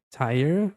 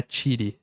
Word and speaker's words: tire: Tire. E aqui não é tiri, é tire.